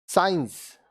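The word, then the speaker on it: science: सी साइलेंट, यहाँ देखिए ये सब वर्ड्स में सी साइलेंट होगा। सेंट, इत्र, सेंट, इत्र। साइंस, विज्ञान, साइंस, विज्ञान।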